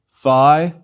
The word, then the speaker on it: phi: students of ancient greek pronounce the phi like the f sound at the beginning of philosophy please repeat phi chi is another sound